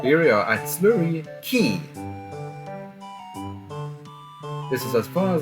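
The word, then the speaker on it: Quay: Slurry Key, right here. Because I will trust you that it is pronounced key.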